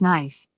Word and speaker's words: knife: K is not pronounced if it is followed by N at the beginning of the word, such as knife.